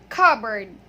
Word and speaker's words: cupboard: So the word here, cupboard, has 2 schwa sounds. So P is silent and it has 2 schwa sounds, 2 schwa vowel sounds. Okay, so we read it as cupboard.